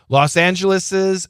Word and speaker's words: Los Angeles's: There's no S after the apostrophe. However, when you say it, when you read it, you are supposed to pronounce it. Los Angeles's famous beaches, like for example, Malibu.